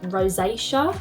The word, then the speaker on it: rosacea: I originally looked into Dermatica because I thought I had rosacea. Is that how you pronounce it? I think it is. Rosacea.